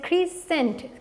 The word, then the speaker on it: crescent: The third one is crescent, crescent, CRASCENT, cent, crescent. So the pronunciation is entirely different from this one. चाहे कि अगर आप गौर करो तो अल्फ़ाबेट का ऑर्डर भी सेम है, SCENT, but here the pronunciation is not same as the first one.